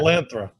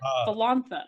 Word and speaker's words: Volantha: Volanthra. Thank you. But Volantha. Volantha. There's no R.